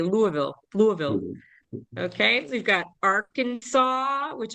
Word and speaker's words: Louisville: But we've got West Virginia, Kentucky, and the pronunciation of the capital is Louisville. Looks like Louisville, but we say Louisville.